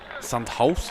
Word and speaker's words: Sandhaus: Sandhaus is the correct pronunciation.